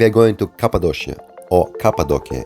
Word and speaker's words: Cappadocia: going to cappadocia or cappadocia if you're in turkey you should pronounce it this way cappadocia is a historical